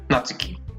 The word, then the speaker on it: Natsuki: uh I need to be careful about my pronunciations Natsuki okay are you okay are you ready maybe